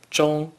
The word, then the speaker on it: 中: 中 is the first tone. Please pronounce it after me. 中中中午 means noon.